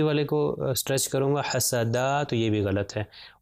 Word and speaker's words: حسد: ہو جائے گا حسد۔ دیکھیے میں تینوں کو برابر اس کی جتنا کھینچ رہا ہوں تینوں کو برابر ہی کھینچ رہا ہوں، زیادہ پرولونگ نہیں کر رہا، ملٹیپلائی بائی 1، حسد، حسد۔ اگر میں کہوں حاسدہ